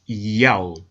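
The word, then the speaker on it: ΙΑΩ: In order to help the reader pronounce God's name correctly, they transliterated the Most High's name with the Greek characters iota, alpha, omega, written in Greek, pronounced Yao.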